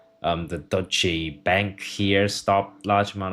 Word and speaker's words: Deutsche: In German, it's said as Deutsche. Deutsche. Deutsche. Deutsche. So, is it Deutsche Bank? Deutsche. Deutsche. How do you pronounce this Deutsche. So, it's a Deutsche Bank.